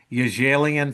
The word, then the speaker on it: Yajalian: Let me get it right because it's Armenian. And Italians only say Italian names right. So I'll say it right. It's called the Danielle Yajalian Foundation.